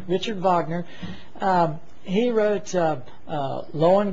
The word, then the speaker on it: Wagner: uh you'll study Richard Vagner again his name looks like Wagner but it's pronounced Vagner Richard Vagner um he wrote uh